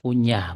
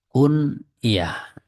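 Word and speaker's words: كنية: bukan kunyah bukan ya Jangan dibaca kunyah bukan Tapi bacanya kunah ya pakai yang ini alkyatu itu kalau ini kan dalam bahasa kita mungkin bacanya kunyah kalau kuny itu mengunyah ya bukan tapi kunah Abu Muhammadin Ummu Muhammadin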